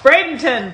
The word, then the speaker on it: Bradenton: you're not from florida if you can't pronounce these words part seven first up that's bradenton bradenton is named after dr joseph brayden whose